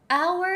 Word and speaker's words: hour: mean by this is the word hour our is spelled h-o-u-r h is a consonant however we don't say a hour we actually say an hour and the reason is